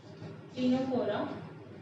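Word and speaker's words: Ctenophora: So talking about क्लिनोफोरा, इन सब में सी silent है, सीलेंट्रेटा को छोड़ के, ठीक है.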